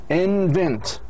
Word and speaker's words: invent: مثل كلمة invent. Invent هذا فعل تكون 2 syllables. Reform. وين السترس لازم يكون في الشطر الثاني.